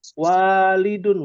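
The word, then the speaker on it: والد: Jadi jangan sampai bacanya salah. Ya. Walidun, waduh, walidun itu bapak itu. Ya. Waladun artinya anak. Ya, anak laki-laki. Walidun orang tua dari pihak laki-laki yaitu bapak.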